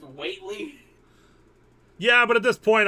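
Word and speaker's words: Whateley: that in um the lovecraftian book that's actually pronounced weightly yeah but at this point I'm cut you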